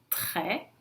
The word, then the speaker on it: très: Se ele vem sozinho na frente de uma consoante, também não se pronuncia o S, mas aí depois vem uma vogal, então eu vou aplicar a liaison fazendo o som Z.